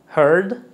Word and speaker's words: heard: es una i here heard heard aquí no suena la a Es simplemente heard heard ahora tenemos hide así